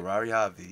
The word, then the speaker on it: Ferrari Xavi: Am I saying it right? Ferrari Xavi. Yep. Ferrari Xavi. That's right.